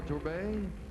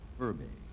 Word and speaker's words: Turbay: บโตขึ้นมาในชนบทในรัฐแอริโซนานะครับจะชอบขี่ม้ามากทีเดียวและขณะนี้กำลังศึกษาทางด้าน Next กฎ is หมาย Miss อยู่นะครับ Colombia, Turbay. ต่อไปเราจะมาดู, เทโอลา promise เท you เบ I'll นะครับ pronounce จากโคลัมเบีย your name correctly. It's Turbay. Turbay. Turbay.